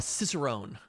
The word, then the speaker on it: cicerone: actually it's Wikipedia just says beer somaler a cicerone cicerone yeah also known as a cicerone in